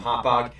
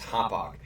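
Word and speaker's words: Hauppauge: was the Islanders picking up the kid from Hopog. And that is how you pronounce it. It is Hopog.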